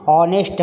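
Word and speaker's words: honest: शब्दों के पहले लगाते जहां पर हा साइलेंट राहत है और उसका उच्चारण हिंदी का स्वर होता है जैसे की स्टार्ट हुआ है लेकिन अराइव्ड और यहां पर देखिए ऑनेस्ट पढ़ने हैं तो और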